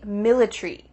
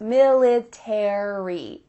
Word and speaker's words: military: military it would be military military that a is just gone but in american english each of those letters are pronounced military airy so let's listen